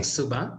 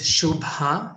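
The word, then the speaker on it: శుభ: not pronounce it properly it's a very specific pronunciation first of all it's shu it's a shuba so people are saying subha as well so it's shubha and the ba lot of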